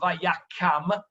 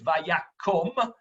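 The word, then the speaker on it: וַיָּקָם: By the way, it's not Vayakam. That second kamatz is a kamatz katan, so it's Vayakom.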